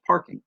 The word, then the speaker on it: parking: You'll notice parking, two syllables. The stress is on the first one.